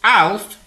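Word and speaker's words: אָלַף: Pronounced Alf, Hebrew word number 502, it is the verb to learn, to be trained or trainable, docile, or causatively, to teach, to train.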